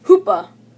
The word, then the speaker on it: Hoopa: Hoopa. Sounds rhymes with Koopa.